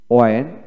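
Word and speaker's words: when: হ্যাঁ বন্ধুগণ, এখানে লক্ষ্য করেন ওয়েন ব্রিটিশ এবং আমেরিকান উভয় ক্ষেত্রে ওয়েন WEN ওয়েন IPS symbolic sound এটাই হয়। তবে বাংলা একাডেমি ডিকশনারি থেকে হয়েন উচ্চারিত হয়, আর এটা ম্যাক্সিমাম জায়গায় হয়েন উচ্চারিত করে। ওয়েন উচ্চারণ আমাদের দেশে তেমন হয় না, সেটা মাথায় রাখবেন।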